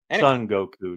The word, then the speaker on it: Son Goku: it it's fun the flanderization of s Goku Son Goku not son don't say it weird song that's